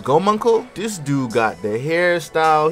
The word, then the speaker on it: Gomunkul: But all jokes aside, this man, I think the way to pronounce his name is Gomunkel.